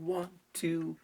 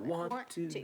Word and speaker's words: want to: Watch again, you're overpronouncing want to. You want to. There's almost no T on want. Just soften that. Yeah. In my You have want. Want to drop your.